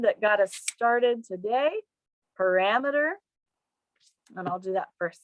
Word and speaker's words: parameter: with the word that got us started today parameter and i'll do that first sentence there there's one very important parameter for this experiment the next one is diameter